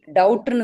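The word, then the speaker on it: doubt: டவுட்னு தான் சொல்லுவோம். டபுட் அப்படின்னு சொல்ல மாட்டோம். B.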